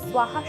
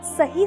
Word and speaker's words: स्वाहा: उत्पन्न हो सकती है अगर हम स्वाहा शब्द को सोहा या सोहम के समान उच्चारित करें तो यह समस्या का कारण बन सकता है इससे हवन के दौरान